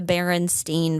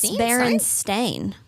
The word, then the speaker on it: Berenstain: The other one that really gets me is the Berenstein verse. Berenstain Bears. Berenstain? It's Berenstain, they say.